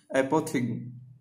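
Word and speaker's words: apothegm: इसको प्रोनाउंसिएशन करेंगे इसका एपोथिग्म। ठीक है, थिगम नहीं कर देंगे, इसको थिग्म करेंगे।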